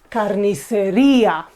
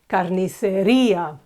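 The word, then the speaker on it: carnicería: The Butchers is say Carniceria okay you see this e with the tilde is pronounced very clearly Carniceria in the next word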